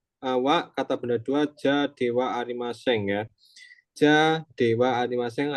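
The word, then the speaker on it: では: dewaeng juga bisa ya perhatian eh ha dari DH diucapkan wa ya jadi dewa dewa H untuk pengingat lagi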